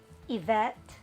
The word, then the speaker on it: Yvette: Ang tatandaan nyo sa first rule na to, kapag ang proper names nagsisimula sa letter Y, hindi natin siya pwedeng i-pronounce as yeah. It has to be sounded as long E. Like the name Eves, that's Y-V-E-S. Yvette, that's Y-V-E-T-T-E.